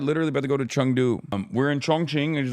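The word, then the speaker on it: 成都: It is pronounced like Chungdu. They are wrong.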